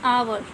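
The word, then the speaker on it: hour: एच ओ यू are with यहां पर ए silent है विल से और ओके विल नॉट से आवर will say आर आर युद्ध स्टाइल और बनाने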